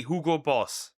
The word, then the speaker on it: Hugo Boss: How do you say Hugo Boss in German? It's literally Hugo Boss. That That's it. It's that simple.